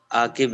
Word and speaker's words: Akib: your name and uh every one can call me akib so akib is right pronunciation about my name akip so